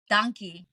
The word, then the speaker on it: Dankie: How do you say thank you in Afrikaans? Dankie.